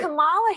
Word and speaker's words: Kamala: actually So pronounce her name And right. Kamala Harris, if Kamala.